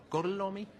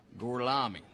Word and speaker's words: Gorlami: So, Gorlomi? Lo pronuncio correttamente? Sì, corretto. Gorlomi? Per cortesia, me lo ripeti ancora. Gorlami.